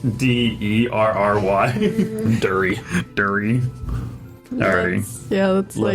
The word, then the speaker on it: Derry: Emma can't get dairy, and it's spelled DERRY. Dury.